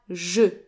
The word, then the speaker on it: je: Now the J in je is pronounced like the S in the English word leisure. So j, not j. J. Je. And the E is pronounced like the A in the English word about.